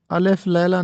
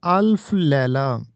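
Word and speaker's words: الف لیلہ: یہ استعمال ہوتا ہے۔ اس کے بعد ہے الف لیلا، یہ غلط تلفظ ہے، املا بھی اس کا غلط ہے۔ الف لیلا نہیں ہوتا بلکہ یہ ہوتا ہے الف لیلا۔ الف لیلا و لیلا،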